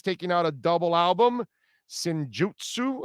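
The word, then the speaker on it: Senjutsu: out a double album sinjutsu i think is how it's pronounced i have no idea the the song writing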